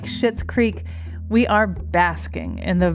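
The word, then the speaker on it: Schitt's Creek: shows like queer ey to Comedy dramas like shitz Creek we are basking in the very best distractions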